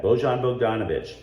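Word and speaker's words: Bojan Bogdanović: from usa today etc beaujon bozon bogdanovic i can't believe i mispronounced his name that's on my bad bojon bogdanovic there are other ones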